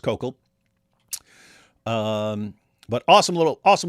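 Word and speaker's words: Koukl: Looks like Cook. Cook, but don't call him that to his face. He gets really mad if you call him Cuckoo. Uh it's Coco. It's pronounced Kokal.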